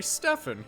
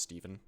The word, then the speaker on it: Stefan: Now, you may come to me and ask, "Hey Stefan, if you love Smash Brothers so much, who do you main?" And to that I say, actually it's pronounced Steven.